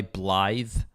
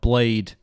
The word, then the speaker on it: Blaidd: Ring the wolf guy Blythe? But it's spelled like Blaidd. Oh, But that's cool. that is apparently a traditional Welsh name, Blythe. That's cool. It comes from the Welsh language.